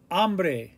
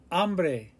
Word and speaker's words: hambre: Remember the H is silent. Hambre, hambre, hambre.